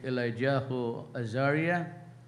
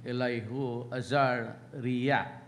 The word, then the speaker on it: Elihu Azaria: Hiviben Matiao, it's pronounced if by Ben Matit Yao, the first ambassador to the Philippines, Rabbi Elijah Azaria, the Rabbi Elihu Azaria, that's how it's pronounced.